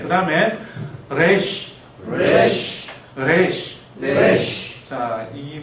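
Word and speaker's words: ריש: 이게 그 영어처럼 이렇게 혀를 말아서는 안 하시면 좋을 것 같아요. 이쪽 이쪽은 혀를 말아서내는 소리 레쉬가 아니고요. 레쉬레쉬 우리 그냥 리얼 흘러가는 발음을 하고 가셔 레쉬네 레쉬 레쉬 그 신경 써서 발음하다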